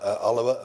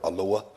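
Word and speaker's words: Alloa: Uh the member for Alawa and Grangemouth as my colleague who's no longer here once referred to it as the member for Aloa Alawa and Grangemouth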